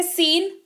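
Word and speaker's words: scene: में ए रहा है लेकिन सिक्का उच्चारण नहीं किया जाएगा डेट इस व्हाइट इसका उच्चारण जो है वो सीन होता है साइंस नहीं होता है सीन उच्चारण होता है जिसका मतलब होता है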